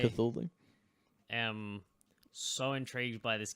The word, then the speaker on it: Cthulhu: The Call of Cthulhu, or Cthulhu, depending how you pronounce it. I say Cthulhu.